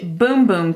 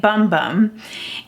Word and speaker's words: Bum Bum: Brazilian it's actually pronounced boom boom cream in Portuguese it's pronounced boom boom but it looks like bum bum and this is supposed